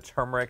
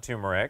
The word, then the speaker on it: turmeric: is turmeric this is the spice is pronounced the r is pronounced i pronounce the turmeric not tumeric and it looks just